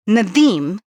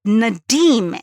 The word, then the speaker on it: Nadeem: I said, the sound, the D sound, one has a hard D and the real pronunciation has a soft D sound.